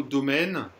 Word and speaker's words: domaine: Vous voyez, le mot domaine, il y a M-A-I, on dit bien mais. Mais. Alors que mais, M-A-I-S, on dit mais. Donc là, c'est domaine.